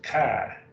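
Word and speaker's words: καί: that's translated and kind kai and alpha iota is a diphthong so it's kai that's just the word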